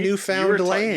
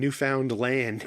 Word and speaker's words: Newfoundland: Wouldn't be funny if I said it wrong the second time where I said you're from Newf Found Land.